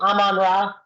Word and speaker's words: Amon-Ra: Amon-Ra.